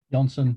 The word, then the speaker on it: Jansen: you pronounce your name Johnson yes that's correct I won't say it like the Americans say it yeah Mike Johnson who